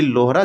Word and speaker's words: लोहरा: जैसे में अगर हम बातें बात करें कि क्या मिस्टेक हुआ तो उसके प्रोनाउंसिएशन में हमसे गलती हुआ था कि लोहरा जनजाति होता है ना कि लोहार जनजाति होता है।